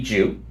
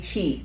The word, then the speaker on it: Qi: with my friend Betty Ju. Are you? No, Betty Chi. Oh, Betty Chi. Yeah. You're not Betty Ju? No, oh, I thought you were Betty QI, that's pronounced Chi.